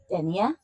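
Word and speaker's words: Dénia: Dier denier. Denier. Like 15 denier stockings. Yes. But not spelled the same.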